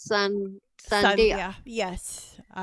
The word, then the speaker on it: Sandhya: how your name was so it's s-a-n-d-h-y-a so pronounce Sun Sunday yes all right beautiful name thank you thank